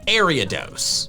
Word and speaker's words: Ariados: The first part of its name is from Ariadne, the princess from Greek mythology that gave Theseus some twine to help him navigate the labyrinth. The pronunciation Ariados makes sense, but I call it